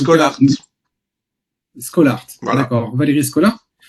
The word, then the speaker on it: Schollaert: Je ne sais pas si je prononce bien. En Belgique, on En dit tout cas, Scholart.